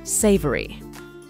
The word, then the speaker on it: savory: stew or vegetable lasagna this is a three syllable word and is stressed on the first syllable Savory one time I bit